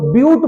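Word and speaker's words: but: इसको बट नहीं बोलेंगे, साइंस की भाषा में इसको ब्यूट बोला जाता है। ब्यूट शब्द से आप इसको प्रोनाउंसिएशन करेंगे।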